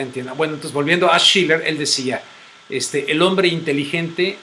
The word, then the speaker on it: Schiller: Ese es Schiller.